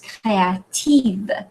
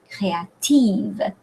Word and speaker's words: créative: And in French is créative, right? Creative, créative, creative, right, on the second syllable.